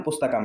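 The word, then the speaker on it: पुस्तकम्: दोनों का उच्चारण पुस्तकम है। तो दोनों का उच्चारण पुस्तकम है। तरीका बदल गया है। यहां पर हमने ऊपर बिंदी अनुस्वार लगा लिया है और यहां पर म को ही लिख लिया है।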